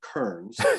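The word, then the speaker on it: Kerens: of those small towns is k-e-r-e-n-s but they pronounce it kearns of course kearns texas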